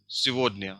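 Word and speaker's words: сегодня: It is pronounced like Sivodnya.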